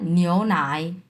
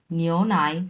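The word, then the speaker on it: 牛奶: নিও নাই। নিও নাই। প্রথমটা দুই নাম্বার টন।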